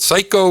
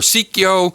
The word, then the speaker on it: Psikyo: I don't know if you pronounce it Psycho or Psikyo. In Japanese, it would be Psikyo, but in American, you would say Psycho.